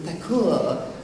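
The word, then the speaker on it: Thakur: two members of the theur family um you theur as in like bar and holy Lord um that the British um would just with their imperfect hearing heard it as Tor and that's how it was a mistake it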